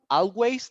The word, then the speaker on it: always: no it's all always you begin with o and you ended up with Z always I always I